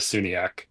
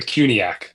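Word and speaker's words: CUNYAC: I'm gonna go with Baroo out of the Sunni. The Cuniac, excuse me. Was a soft C there.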